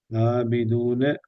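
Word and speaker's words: عابدون: அலிப் அபிதூன அபிதூன ஆபிதூன இப்ப நாவினுடைய இறுதி பகுதி தூக்குங்க ஆபிதூன ஆபிதூன ஆபிதூன ஆண்டு நீங்க ஐன ஐன உச்சரிக்கிறீங்க சரியா ஆனா அது வானத்தை நோக்கி போகுது இப்ப இது ஆ என்று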